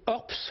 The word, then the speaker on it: Horps: Avec nous, Olivier Orps, voilà, je prononce bien votre nom. Oui, tout à fait, Orps, bonsoir.